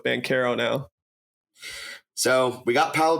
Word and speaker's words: Banchero: of their names so we're going full italian pronunciation with ban caro now so we got